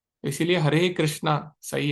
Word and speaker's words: कृष्ण: तो इसलिए वास्तव में कृष्ण तो हिंदी में सही है, लेकिन संस्कृत में कृष्ण नहीं बोलेंगे, कृष्णा ऐसे बोलेंगे।